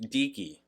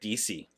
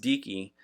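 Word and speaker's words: Deaky: going on it's pronounced decki which I should have known because it's Deacon you know the hard K and I was like DC oh is it DC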